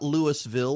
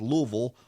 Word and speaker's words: Louisville: Episcopal parishes in Louisville notice my pronunciation it's not Louisville or Louisville its Louisville Louisville Kentucky and at the